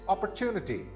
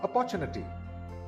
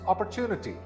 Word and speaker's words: opportunity: This word is opportunity, not opportunity. Again, it's opportunity. The third syllable is the one that's stressed.